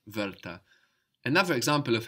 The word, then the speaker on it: Wörter: Word sounds like Wörter, the same vowel, word, bird, Wörter.